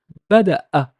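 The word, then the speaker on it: بدأ: Ba da ba da bada'a bada'a bada'a. It's basically a hiccup.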